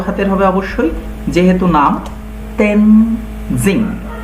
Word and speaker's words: Tenzing: তো এটা Edmund Hillary and তেনজিং। দেখো এখানে কিন্তু টিইএন, এই যে টেন, এটা কিন্তু আমরা ট বলবো না, আমরা বলবো ত, ত উচ্চারণ হবে। তেন, টিটা বড় হাতের হবে অবশ্যই, যেহেতু নাম তেনজিং, জিং, তেনজিং নোরগে।